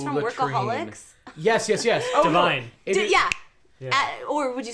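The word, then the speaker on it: DeVine: is Adam P no it sounds like LaVine it almost rhymes with LaVine oh you know he's from Workaholics yes yes yes Divine yeah or would you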